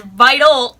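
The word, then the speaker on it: Vitale: figured out the movements saying the name wrong this whole time they went from vitae curl to vite toll curl plus so it's vital curl did you guys know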